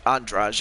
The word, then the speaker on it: Andrade: be the champion jessica andraj i know it's it's spelled andrade but it's entourage actually how you pronounce it or will it